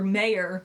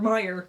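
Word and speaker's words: Mayer: So it's Oscar Mayor. I mean, it's Oscar Meyer, but it's it's spelled like mayor for some reason.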